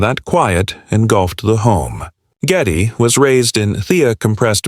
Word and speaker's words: Geddy: It was always pronounced with a heavy Polish accent as Getty.